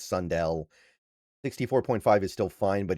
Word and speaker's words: Sundell: or Sundel or Sund I always forget the right way to pronounce it. I think it's Sundell 64.5 is still fine